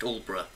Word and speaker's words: Aldeburgh: And by the way, it's pronounced Aldeburgh.